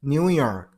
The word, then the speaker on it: New York: And it's New York. Stress on the last syllable. New York.